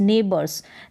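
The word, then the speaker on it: neighbors: पढ़ेंगे ने यहां पर ने ई आई जी एच में एक ही साउंड आएगा ए करके तो ने यह फिक्स्ड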